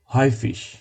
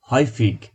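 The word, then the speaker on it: häufig: হয়ফিশ হয়ফিক বললেও ভুল হবে না, এর জন্য আমি স্ল্যাশ বা অবলিক দিয়ে অন্য উচ্চারণটার যে গ সেটা লিখে দিয়েছি। সো আপনারা চাইলে হয়ফিশ অথবা হয়ফিগ দুইটাই বলতে পারেন, কিন্তু হয়ফিশটা বেশি স্ট্যান্ডার্ড।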